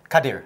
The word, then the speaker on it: Kadir: Zaleha Kardia Olpin, did I pronounce her name right? Kadir. Kadir, Yeah.